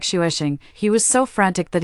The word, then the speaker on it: Xavier: I named it Xavier, pronounced like shuesing.